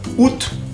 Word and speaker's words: août: Mira, si está escrito A, debería decir août. Bueno, c'est comme ça, c'est le français, et il y a des exceptions. Así se pronuncia août. Y miren que tiene un sombrerito en la U, que no hace nada, no afecta en la pronunciación.